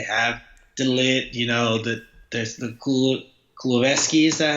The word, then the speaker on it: Kulusevski: They have Demiral, they have Romero on loan, they have De Ligt, there's the Kulusevski, is that how you pronounce it? Kulusevski, yeah.